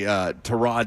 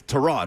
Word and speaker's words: Tyrod: It's Ann says I still say Tyrod Taylor wrong. It's Tyrod, right? Not Tyrod. Tyrod. Yeah, Tyrod. And he revealed that on Hard Knocks, didn't he?